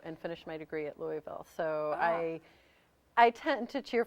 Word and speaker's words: Louisville: How do you say it? Louisville. Louisville, people. Louisville, not Louisville or what have you.